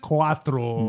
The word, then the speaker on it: Quattro: be the one you got right say something Quattro that's it you've got it how do you